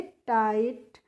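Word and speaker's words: tight: को पढ़ेंगे हम टाइट जो यहां पर आई जीी एसटी होती है फ्रेंड्स इसका प्रोनाउंस एशन क्या होता है आइट करके होता है ठीक है इसीलिए इसको हम फिगा इट इस तरीके से नहीं पढ़ते हैं फाइट और टाइट पढ़ते हैं और टाइट का मतलब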